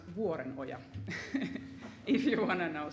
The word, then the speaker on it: Vuorenoja: in this conference but my uh surname is pronounced waren Oya if you want to know so that's finished